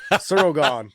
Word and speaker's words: Ciryl Gane: They're like, oh my God, he says cereal. Oh, who gives a crap, guys? Ciryl Gane. Okay. He's not offended, all right? I'm sure people mispronounce his name all the time. I think you're saying it more French than anybody else there, Josh.